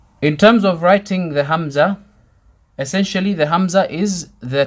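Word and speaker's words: همزة: sound ha ha Hamza same starting sound we're gonna say it five times hums hums hums hums hums a person's name is Hamza is spelt with a hat but the letter this letter that we're taking now is code hamza with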